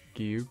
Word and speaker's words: Giyu: You know, giyu, but you don't pronounce J in giyu.